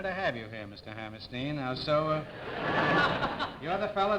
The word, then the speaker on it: Hammerstein: Is it Stein? Is that the way it pronounces? Yes, Stein. Well, it's a great honor to have you here, Mr. Hammerstein.